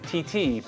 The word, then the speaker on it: titi: Well, in a lot of places it's TT, but here in the greatest country on earth, Yeah. we're gonna call them titties.